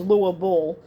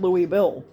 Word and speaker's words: Louisville: in his hometown of Louisville um basically it's pronounced lower ball for the uninitiated for the people that never been there and that Louis Bill and they initiated the